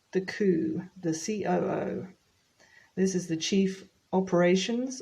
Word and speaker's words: CEO: but for the pronunciation I've heard it pronounced Co before but then you wouldn't be understood you have to pronounce each letter now this is the